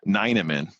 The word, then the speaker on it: Ninneman: and he used to jokingly call my name Ninneman, like a very German way of pronouncing it, or then he shorted